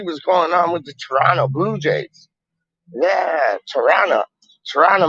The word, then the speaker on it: Toronto: it like that before normally people like they don't pronounce the t's i pronounce my t side but normally like you got a man saying like toronto tirana tirana that's it toronto oh i'm going up